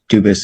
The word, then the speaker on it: Dubus: Dubus is the English pronunciation. Dubus is the original French.